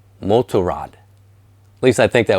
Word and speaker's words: Motorrad: In German, it's pronounced BMW Motorrad.